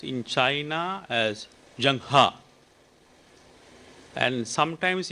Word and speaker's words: Zheng He: name of Shanghai is pronounced in China as Jang ha and sometimes it's pronounced as Xin ho so it's pronounced differently but for the Chinese he's Jung ha so III I managed to pronounce this only